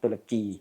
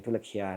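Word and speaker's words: ตุรเคีย: ที่ อยู่ ใน ประเทศ ตุร เคีย ตุรกี ทุก วัน นี้ เขา ให้ ออก เสียง ตุร เคีย นะ เอ่อ ไอ้ ตัว ของ นัก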